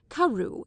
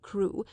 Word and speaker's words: Crewe: Madame Pascal pronounced it as if it were karu instead of crew, but that might merely be a matter of pronunciation.